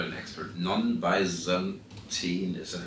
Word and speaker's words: non-Byzantine: So was this all, I'm not an expert, non-Byzantine, is that how you say it? Right, non-Byzantine or sometimes called benign failures.